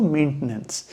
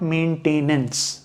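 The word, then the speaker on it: maintenance: मेंटेनेंस या थोड़ा अगर और न्यूट्रल एक्सेंट में जाएंगे तो मेंटेनेंस नॉट मेंटेनेंस। आप मेंटेनेंस बोलेंगे तो आप एक एक्स्ट्रा सिलेबल जोड़ दे रहे हैं which is नॉट the right pronunciation and neither the right spelling.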